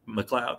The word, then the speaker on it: McLeod: McLeod, rather. I don't know why I just said it wrong. I've been saying it right the whole night.